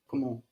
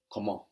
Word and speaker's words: comment: you pronounce the word how in French comment comment come on come on very good if you want